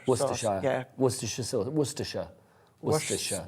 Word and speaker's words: Worcestershire: Worcestershire. Worcestershire. It's 3 syllables. You put in an extra syllable.